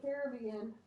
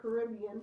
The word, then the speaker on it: Caribbean: out in the Caribbean or Caribbean, depending on where you're from, how you say it.